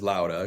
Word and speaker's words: Låda: company and like you said Tyler the official pronunciation is louder because it's a Swedish word but we don't expect anybody to pronounce it that way so we just refer to it as a lot of cube but I will I I 100 will